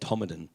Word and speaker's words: Todmorden: time to learn be shown how to set Tomalin is pronounced it will spelt Todmorden of causa it's